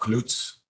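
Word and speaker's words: Kluetz: I'm going to try to pronounce my own name in a European way. I'm Klutz.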